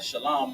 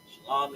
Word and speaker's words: shalom: Shalom in Hebrew, Right. which is spelled, because we gonna clear the air on this one. It's shalom, not shalom, not shalom. It's shalom. Shalom makes absolutely no sense.